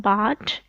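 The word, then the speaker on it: bald: Then गंजे को English में कहते हैं बार्ड. इसमें एल साइलेंट है, इसको आप पढ़ेंगे बार्ड, नॉट बार्ड.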